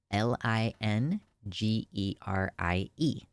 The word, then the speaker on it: lingerie: lingerie lingerie is spelled l i n g e r i e and I believe it is spelled lingerie it's spelled that way and it's pronounced that way because it's French I had a realization